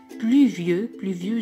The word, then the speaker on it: pluvieux: pluvieux جاية من pluie يعني المطر ممطر. Pluvieux, I-E-U se prononce E, X ne se prononce pas.